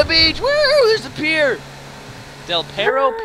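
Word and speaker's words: Del Perro: beach there's a pier del pero pier now i got del piero up here that's how you say it all right um this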